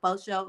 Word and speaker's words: FASHO: Although people say it is slang, but they say faux show, like FO.